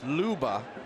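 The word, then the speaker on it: Loebe: This is Janis Luba. He's from Germany, so it's spelled L-O-E-B-E, but pronounced Luba.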